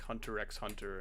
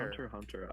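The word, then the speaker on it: Hunter × Hunter: Apparently, you're not supposed to pronounce the X in like Hunter X Hunter and Spyx Family. Like, why? Why is it there? Hunter Hunter, I for Hunter Hunter,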